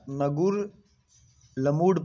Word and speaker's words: Ngerulmud: इसको पढ़ा, पता नहीं क्या पढ़ेंगे, प्रोनाउंसिएशन थोड़ा सा इसका डिफ़िकल्ट है, बट आपको ऐसा नगुर लमूड पढ़ सकते हैं, नगुर लमूड।